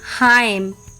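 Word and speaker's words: hymn: एंड the rule is एन is often silent when following M एट द एंड ऑफ a word last में जब एम आता है तब N silent होता है जैसे ऑटम एच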